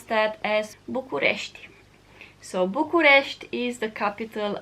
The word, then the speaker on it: București: In Romania you pronounce that as București.